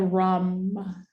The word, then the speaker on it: ram: sound spelled like rom spelled like rom ram but so like rom ram uh-huh ram but it sounds like rum r-um and this is where